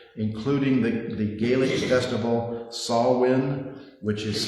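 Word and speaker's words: Samhain: Celtic harvest festivals, including the the Gaelic festival Sawin, which is spelled Sam Hayne, which always gets me when I try to pronounce it, but it is pronounced Sawin, and you heard him pronounce it in the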